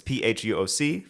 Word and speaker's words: Phuoc: But the second part of my surname is Phuoc. It's Phuoc, Phuoc. And people, I got called fuck when I was growing up by yeah.